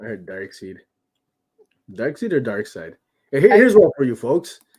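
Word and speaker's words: Darkseid: or dark side that's not a question it's dark side yeah dark side i i've always done to be honest i've always said dark seed you seem to type let us know folks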